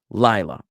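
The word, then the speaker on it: לַיְלָה: it was like that with the emphasis on the last syllable the accent on the last syllable that would follow the pattern of female words feminine words but the emphasis being on the first syllable here uh accepts it from that rule. So it's not a it's not a a feminine noun. It's a masculine noun.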